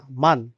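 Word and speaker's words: Mann: along এ মান মান ম্যান না মান আপনারা যখন দেখবেন যে না থাকবে তখন সরে উচ্চারণ করবেন নুন এন তে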